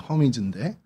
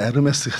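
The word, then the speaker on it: Hermès: 근데 이게 영어로 하면 허미즈입니다. 허미즈인데 이 불어로 하면 어떻게 됩니까? 네, 여러분들이 좋아하는 에르메스가 됩니다. 그럼 에르메스하고 이 헤르메스하고 관련이 있는 거냐? 똑같은 겁니다. 앙리가 헬리가 앙리인 것과 똑같은 발음 차이예요.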